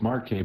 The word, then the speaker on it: Marquez: That is pronounced Marquez by Marquez.